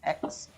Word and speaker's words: Aix: you've got exxon problems aix is pronounced x uh it's kind of